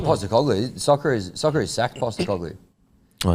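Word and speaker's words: Postecoglou: Postacoglu. Postacoglu. Yeah. But yeah, no, I don't. Well, I stopped watching soccer when I stopped playing it. Yeah, right. I don't know. Just not Postacoglu.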